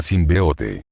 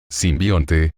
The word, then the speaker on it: simbionte: Verás, el don de Kyosei se llama simbeote. Kiba pronunció mal. Simbionte, corrigió Zu, y le permite vincularse